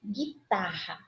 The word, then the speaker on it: guitarra: Eu não pronuncio esse U.